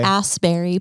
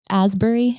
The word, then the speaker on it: Asbury: jersey on uh saturday askberry park he said raspberry how would you pronounce it asbury asbury askberry askberry ass berries asbury park yeah sorry askberry askberry um